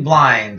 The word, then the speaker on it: Blind: Daily Blind of the Netherlands, or Blind, I was told, Blin. The D is silent.